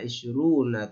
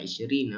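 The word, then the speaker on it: عشرون: Wa isyruna taliban. Ya, wa isyruna taliban. Kalau nggak boleh, nggak bisa bacanya wa isyrina, enggak.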